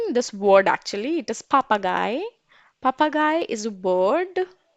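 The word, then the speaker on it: Papagei: it very interesting this word actually it is papa guy papa guy is a word now you have 5 Seconds Of Time spell it out papa guy 5 4 4 3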